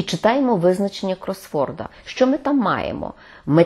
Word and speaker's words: кросворд: Кросворд – наголос на першому складі, хрестиківка або головокрутка.